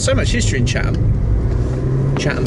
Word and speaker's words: Chatham: Chatham, folks. Chatham. With a silent T.